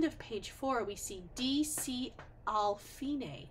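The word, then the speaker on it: D.C. al Fine: page four we see DC alfine that's how we pronounce that it's Italian for DOT Capo alfine and that means we're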